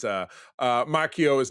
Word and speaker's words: Macchio: But this is Marvel Comics own Ralph Mchio joined me. That's it. Perfect pronunciation.